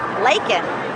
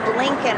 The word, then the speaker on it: Laken: It's easy to read. Lakin, but he said Lincoln Riley.